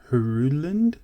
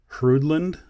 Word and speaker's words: Hruodland: to pronounce it but i think i think the h is kind of silent so i'm just going to call it the hrudland hridland royal oak homage model